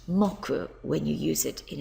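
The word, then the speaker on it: 木: tree here it is up here and it's pronounced mocku when you use it in a day of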